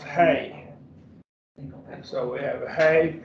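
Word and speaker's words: ἡ: And so we have the article, this Ada with a rough reading is pronounced hey.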